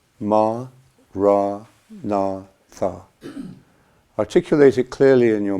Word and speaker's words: Maranatha: And if you choose this word, say it as 4 syllables: Ma, Ra, Na, Tha.